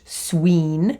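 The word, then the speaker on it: swīn: they would have used the word swine which would have been pronounced Sween you would have had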